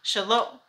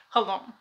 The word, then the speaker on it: Xalo: share or shame but in modern day the pronunciation became the J sound in Spanish which sounds like an H in English so either way you spell it we say hello but then I read